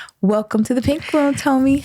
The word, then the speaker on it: TÖME: Her name is TÖME.